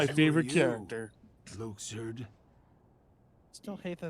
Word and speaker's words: Luxord: Luxord. Still hate that it's pronounced Luxord and not Luxord, because Luxord I know, just that throws feels me off right.